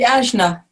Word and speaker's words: Ajna: What is it, how do you pronounce that, Sandy? The Ajna.